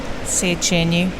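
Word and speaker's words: Széchenyi: I can't even do Budapest properly, so Szechenyi. Ooh. Is that Szechenyi. Is Go on, how do you say Szechenyi.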